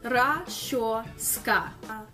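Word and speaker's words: расчёска: That's pronounced Rashoska.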